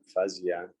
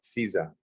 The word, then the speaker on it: Fiza: Oh, Fiza. Fiza. Fee, like hi.